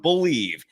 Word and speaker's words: BLEAV: It's the name of the network that we're on, Believe. It's spelled in a unique manner, BLEAV.